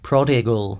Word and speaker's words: prodigal: Prodigal Son is 6 minutes, which by Iron Maiden standards Prodigal. Is that how you pronounce it? Yeah. Prodigal.